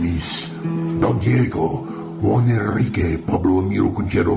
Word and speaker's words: Don Diego: See, I think it enhances the romantic Spaniard nature of my character, and my name is pronounced Don Diego.